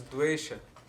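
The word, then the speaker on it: द्वेष: Hatred is dvesha.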